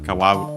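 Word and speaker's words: かわ: Uh kawa as we have seen is uh means a river should be an accented and uh no actually sorry still forgot it. Um it's accented on the last syllable.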